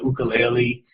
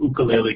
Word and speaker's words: ukulele: learns to play the ukulele um and he points out that he calls it an ukulele because that's the pronunciation of origin of instrument as opposed to the ukulele um he learns to